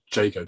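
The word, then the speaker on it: Jago: you don't know because people always think of Shakespeare often think of Shakespeare in Yago um and so JGO doesn't necessarily spring to mind but that's how you say it properly okay well so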